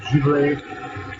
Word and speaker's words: Zivile: It's spelled Zivile, so it's Zivile Swedish Fontina.